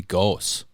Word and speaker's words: Goos: It's actually technically supposed to be Goose, German. Goose. Oh, Goose.